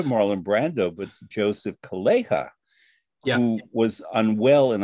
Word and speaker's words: Calleja: So it's not with the Spanish Calleja, but it's Calleja.